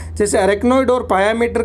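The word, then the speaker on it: pia mater: ये आप याद रखने, पायामेटर की स्पेलिंग होती है PIA, इसको पिया नहीं पायामेटर कहेंगे।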